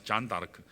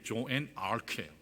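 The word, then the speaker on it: Jeanne d'Arc: 프랑스의 여전사 잔 다르크. 프랑스식으로는 그렇게 발음하는데 영어식으로 얘기하면 이게 조앤 아르크예요.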